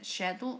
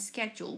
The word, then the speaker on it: schedule: Remember, this word has two pronunciations, the American and the British one, schedule and schedule, which is agenda o horarios.